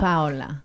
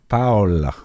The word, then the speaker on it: Paola: So we would say hola, Hola, Hola. Paola. Paola.